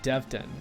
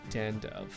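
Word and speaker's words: Devdan: Did I say Dandiv? Danvid. He is Devdin, and most certainly not Dandev.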